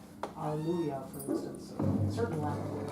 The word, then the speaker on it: Alleluia: I make the last sound rhyme with the first sound. Alleluia, not hallelujah.